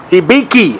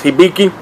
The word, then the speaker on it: Hibiki: are all right fellas hiiki I believe is the right pronunciation some of the people call it hiiki I believe it's hiiki this is a Japanese